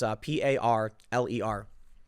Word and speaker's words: Parler: So it's spelled parlor for those that don't know. I guess people aren't going to understand the French pronunciation. No, people don't speak French, but it's Parler.